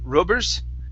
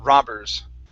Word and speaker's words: robbers: right let's go to the word robbers instead of rubbers okay give me an a sound here robbers robbers all right very good